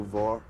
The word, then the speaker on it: Vor: Radio Vor, not war, but Vor, or War, but spelled with an O, not an A.